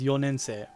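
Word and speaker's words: 四年生: is most basic but fourth year student is yonensei so yon can become yo same with ku can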